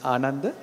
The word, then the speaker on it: Ananda: and my name is Ananda if you can't spell it it's like Amanda but with a n how I know because